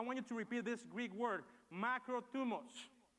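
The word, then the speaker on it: μακροθυμία: nuevo testamento la palabra griega para paciencia es se escribe de la siguiente palabra de la siguiente manera es macro tubos dilo conmigo macro tubos cuando vayan a comer bien llegó a tweet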